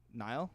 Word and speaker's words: Niall: He said it's like the river. Niall.